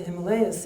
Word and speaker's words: Himalaya: So I went to the Himalayas, and I spent 3 years living in Himalaya, actually is the correct pronunciation, going from ashram to ashram and studying the traditional Indian yogas.